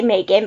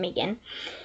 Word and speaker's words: Megan: hear Megan in my face and yes, it's pronounced Megan just so you know. Um, most people say Megan, but she does correct anybody that says Megan to change it to Megan.